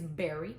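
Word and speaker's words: Berry Naughty: am saying it right, it's not very, it's berry, like a berry.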